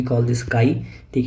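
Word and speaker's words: χ: Basically we call this काई, ठीक है। एम इक्वल टू काई इंटू एच, ठीक है। इसको के वाई काई या के ए आई काई प्रोनाउंस करते हैं, ठीक है।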